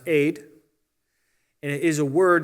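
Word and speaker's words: עד: like an a and a d sound are pronounced aid and it is a word that means a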